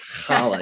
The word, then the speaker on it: challah: notice Chala you hear child a lot from the boys but uh simple thing like that just letting the world know it's pronounced holla you got to get